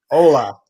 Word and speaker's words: hola: Hola. Hola. That's pronounced.